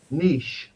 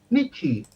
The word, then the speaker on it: niche: many left uh Niche niche nich Nichi no we don't say Nichi we say Niche Niche nich nich nich